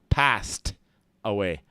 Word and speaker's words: passed: all right and again we got an ed on the end of an S sound here or an actual s so it's going to be a t passed away passed away passed away